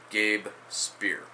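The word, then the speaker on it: Speier: and a 19-year-old minor league left-hander Gabe spear Gabe spear that's how you pronounce his name when I first heard about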